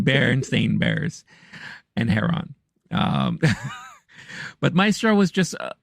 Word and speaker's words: Heron: So, it's pronounced Heron, but go ahead. Lenny Heron or Heron.